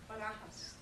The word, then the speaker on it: Barajas: just tell me how to pronounce your last name. Barajas.